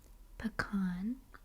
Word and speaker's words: pecan: I would say this word as pecan. Pecan. But it is also commonly pronounced pecan. Pecan or pecan.